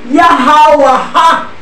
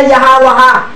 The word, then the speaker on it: Yahawah: Kasi ang original talaga, Yahawaha. Ngayon, sa ancient Paleo Hebrew sound roll, silent, the last vowel sound.